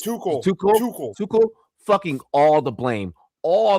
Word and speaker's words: Tuchel: I'm sorry, but how do you pronounce the coach's name? Tuchel is Tuchel.